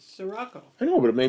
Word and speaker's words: Scirocco: Scirocco, there's no H in it. It's Sirocco.